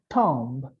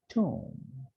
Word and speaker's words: tomb: It is not tomb, but it is tomb.